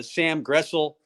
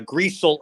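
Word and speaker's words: Griesel: wilhelm bradenbach you got uh sam gressel uh or uh griezel i'm sorry i just learned how to pronounce that um you got cj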